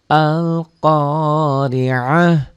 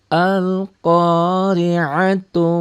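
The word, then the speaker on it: القارعة: Nah, kalau berhenti di sini tu-nya tidak dibaca. Tidak dibaca tu. Tapi ta ini seakan-akan kan ini rumahnya rumah ha, kembali ke semula. Jadi bunyinya ha. Al-Qari'ah.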